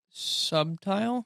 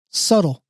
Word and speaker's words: subtle: Subtile. Yeah. How would you if something is mellow or just a little hint of something? Uh, very little. Subtle.